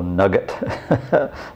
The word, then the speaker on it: nougat: It's a form of Italian nougat, which my mother used to call nugget, the old English pronunciation.